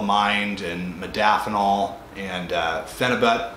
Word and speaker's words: phenibut: and modafinol and uh phenibut venubute uh is the proper way to say it so you know i